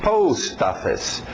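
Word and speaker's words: post office: Post-office, divide o post e o ST bate com o seu office. Post-office.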